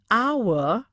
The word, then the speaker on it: hour: sounding as vowel an hour h is silent here an honest man h